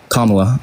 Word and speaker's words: Kamala: Kamala. I'm sorry. It's just my way of pronouncing.